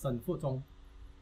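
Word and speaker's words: Shen Fuzong: Yeah, the proper pronunciation is Shen Fu Zhong.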